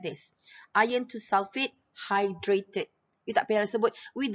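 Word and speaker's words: iron(II) sulfate: we have iron to sulfate okay so we pronounce it like this iron to sulfate hydrated it appears but with the seven water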